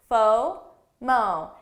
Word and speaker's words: FOMO: kpi fomo fomo so notice in this one i pronounce it as two syllables faux mo i don't say fomo